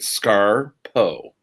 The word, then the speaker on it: Scarpo: get it correct um but you did it phonetically so it's created scar po my brother is gregory